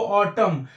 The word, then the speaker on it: autumn: actually इसका जो pronunciation है AUTUMN, उसको ऑटम, नो नहीं बोलते हैं इसका, ऑटम, लेकिन ये